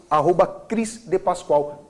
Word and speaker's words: Cris D Paschoal: Ou Cris de Pascoal. Cris, C-R-I-S, D mudo e Pascoal, como a empresa de Pascoal.